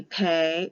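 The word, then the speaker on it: Pe: with the letter p when there's a dot in it it has the hard sound of a p and it will be pay or pay with an h or without an h when they take the dot out it becomes fe or pha with an f or ph it sometimes can be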